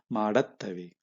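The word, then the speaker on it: ಮಾಡತ್ತವೆ: Again, plural form will be maduttave will change to madattave. Attave it will become.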